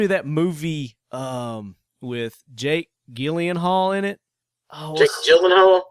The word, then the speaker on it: Gyllenhaal: It's pronounced Gyllenhaal, but it's spelled like Gyenh Hall. I call him Gyllenhaal.